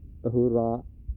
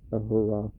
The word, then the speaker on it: Ahura: It's not Ahura, it's Ahura, and that's a punctuation mark.